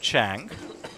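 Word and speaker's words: Trang: And shout out, by the way, to my friend in India, named Chang, which is how I first got introduced to this concept, when I saw how her name is spelled T-R-A-N-G, who runs a Vietnamese cafe in India.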